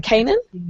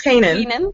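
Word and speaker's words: Keenan: And then when they found out that they cast, like, how do you say his name? Is it Kanan? I think it's Kanan.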